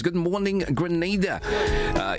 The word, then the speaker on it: Grenada: but I heard in English it's called Grenada. Say it right. Grenada. Say it right. Grenada. That's right. Grenada. There we go. Right. It's not granada. It's save.